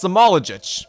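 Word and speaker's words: Smailagić: It's Samoljic. It took me a second to pronounce it correctly, but I finally figured out,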